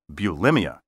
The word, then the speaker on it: bulimia: know the eating disorder many people call bulimia well guess what the proper pronunciation is bulimia this medical term entered